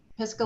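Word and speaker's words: Pisgah: I know I'm going to mispronounce it um piska I pronounced that correctly piscal Legal Services yes yes you did yes okay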